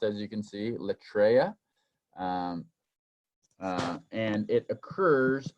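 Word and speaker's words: λατρεία: This word, and it's the Greek word is pronounced, as you can see, latreia, and it occurs 4 other times in the New Testament.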